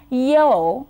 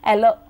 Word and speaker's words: yellow: Or people would say yellow, where the y sound could be missing, and you say ello, ello, ello, dirty fellow kind of stuff, which you must have heard many times.